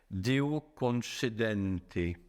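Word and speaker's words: Deo concedente: Les alchimistes disaient que leurs opérations pouvaient réussir de conchédente, je prononce à l'italienne par si Dieu le veut.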